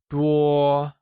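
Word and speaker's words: 多: to learn this phrase many translates to dois and is pronounced using a high level tone while few means sha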